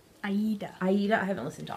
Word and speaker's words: Aida: I haven't listened to all of, how do you say it, Aida? Aida.